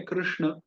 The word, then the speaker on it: कृष्ण: इसलिए हम प्रायः जो कृष्ण का उच्चारण करते हैं उसमें भी हम, होता तो ये है कृष्ण, पर उसको हम श की जगह हम श उच्चारण कर देते हैं प्रायः।